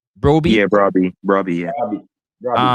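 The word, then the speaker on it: Brobbey: Broy. Yeah, Brabby.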